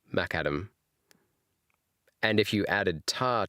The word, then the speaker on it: macadam: Oh, it's named after McAdam. Whoa. Okay. So, it's the crushed stone which is madam named after John Lden McAdam. So, it's called MacAdam.